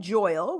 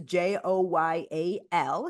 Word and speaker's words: Joyal: Joyal rhymes with royal, but it's a Joyal.